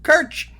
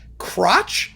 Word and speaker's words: Kirch: That's my name, Kirch." Well, that came out not as Kirch most of the time. He went through life as crotch, crack, crutch, crushed, you name it.